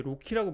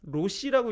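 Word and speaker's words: RoCE: 이거 로키라고 읽으셔야 됩니다. 로시라고 읽으시는 분도 있고 로체라고 읽으시는 분도 계시는데 로키 재단에 가보시면 로키라고 읽어주세요라고 아예 명시가 돼 있어요. 로키라고 읽어주셔야 되고요.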